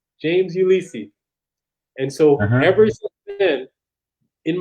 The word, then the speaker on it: Ulysse: see they see they they just think it's pronounced the same way ulysses and so that's how